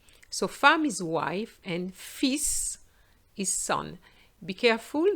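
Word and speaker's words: fils: farm is wife and fis is sun be careful there's an s normally the final s is silent in french but not for the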